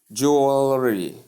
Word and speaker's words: jewelry: You see jewelry, jewelry, Jew and all and re. That's the pronunciation.